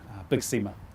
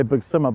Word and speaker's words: Big Sima: Because a lot of people just say Big Sima, but it is Big Sima.